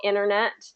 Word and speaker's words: internet: say it a lot native speakers tend to reduce it and get kind of like internet there another example internet the T doesn't get pronounced in that very much internet International is